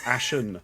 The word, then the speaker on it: Ashen: one thing out though yes I've got my surname wrong okay your surname is Ashen Ashton unfortunately this is a rod I've made